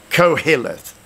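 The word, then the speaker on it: Qoheleth: it I'm going to I'm going to pronounce it for you co-hilleth q-o-h-e-l-e-t-h-cohelive and uh what does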